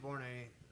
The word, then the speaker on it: Borné: By the way, David Borné had a Cedar Lee show last night, so go look up David Borné. B-O-R-N-E. Accent on the A.